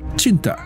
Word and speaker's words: Cinta: In many Southeast Asian Malay and Malay adjacent culture, it is pronounced with a hard C, Cinta, which means love.